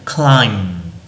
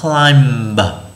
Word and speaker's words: climb: Ví dụ như là climb, chúng ta không đọc là climb mà đọc là climb, kết thúc một chữ m thôi.